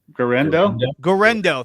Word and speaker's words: Guerendo: Isaac Guerendo.